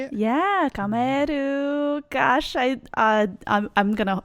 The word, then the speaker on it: Kamaeru: kameru is that how you say it yeah kameru gosh I I'm going to I'm going to